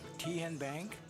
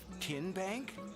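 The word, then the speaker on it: TN Bank: How do you say the name Ten Bank? Nope. Tin Bank? Uh-uh. So, what is it? Tenbank. 10 as in Tennessee.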